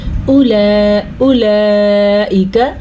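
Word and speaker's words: أُولَٰئِكَ: اولئک، ٹھیک ہے، اولئک، یہ جو مد آپ کو نظر آ رہی ہے اس مد کی مقدار 5 الف کے برابر ہے، تو ہم اس مد کو اتنا ہی لمبا کریں گے جتنا اس کا حق ہے۔ تقریباً اگر ہم اس کو سیکنڈ میں کریں تو 4 سیکنڈ تک لمبی کی جانے والی مد ہے۔ ہم اس کو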